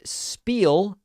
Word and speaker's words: Spiel: Let's start today with Spiel from Nashville, Tennessee. Am I pronouncing that correctly? Hey, yeah, that's correct.